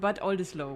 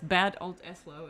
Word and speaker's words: Bad Oldesloe: It's called Bad Oldesloe, which I think outside of Bad Oldesloe nobody knows. It's Bad Oldesloe if you pronounce it English, which is even weirder.